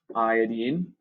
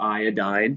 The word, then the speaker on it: iodine: You've got ClMg, so chlorine, magnesium, S, sulfur, I, iodine, or iodine, depending on how you want to pronounce it, Sr, which is strontium, and Br, which is bromine.